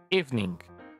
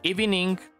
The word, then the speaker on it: evening: astern y suena feo la segunda recomendación es la palabra Evening son dos sílabas If ning si estás diciendo iing hay algo que debes